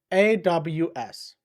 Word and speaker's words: Klaws: It is spelled Klaws. I understand that sounds like it should be pronounced Claus, but Klaus is a goblin that doesn't spell so good.